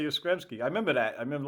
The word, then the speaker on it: Yastrzemski: Yastrzemski. That's a mouthful. Carl Yastrzemski, Yastrzemski.